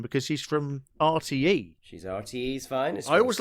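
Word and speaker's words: RTÉ: She's RTE's finest. I always like that. Caroline Erskine. I can't do it, but I always like the way Irish people pronounce RTE, because they don't say RTE, they always say RTE.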